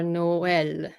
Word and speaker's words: Noël: which we all know, you don't say naive, right? Yeah. So you say the E as its own syllable, so naive or Noël.